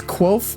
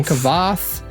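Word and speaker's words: Kvothe: was like no no no he so he pronounces as quoth but like a lot of people say kavath or Cove yeah it's look up a pronunciation guide it's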